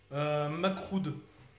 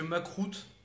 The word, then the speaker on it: makroud: Macroud. Au niveau de la prononciation, essayez de dire Macroud parce que Macroute, ça craint.